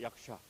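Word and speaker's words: यक्ष: 이게 싸가 아니고 사가 아니고 샤라고 읽으면 됩니다. 약샤.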